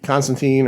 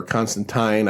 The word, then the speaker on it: Constantine: up with uh with constantine or constantine i i i think they say it's pronounced tine in this um it's one